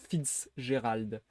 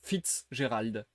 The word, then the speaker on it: Fitzgerald: Francis Scott Fitzgerald. En fait, il faut vraiment que je dise Fitzgerald. Faut que je sépare le Fitz et le Gérald.